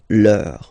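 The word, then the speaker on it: leurs: Okay, so remember, even if you've got this final S, you don't pronounce it, as it was the case already for this word, no, you don't pronounce the final S, vos, you don't pronounce it, leur.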